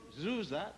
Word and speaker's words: Djoser: In the third dynasty, under the Pharaoh Djoser, D-J-O-S-E-R, otherwise called Sir, S-E-R, which the Greeks could not pronounce, and they called Djoser, D-Z-O-R.